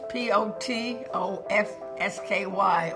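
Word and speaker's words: Potofsky: name is my maiden name was patski p o t o FS k y or when people would say what I would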